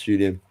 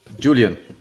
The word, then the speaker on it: Julian: How do you pronounce Julian? Julian. Yeah. Oh, straight up, Julian. So in German, we will say Julian. So this is Julian.